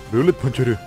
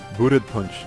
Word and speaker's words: Bullet Punch: Bullet Puncheru. Bullet Punch. Sería la pronunciación correcta.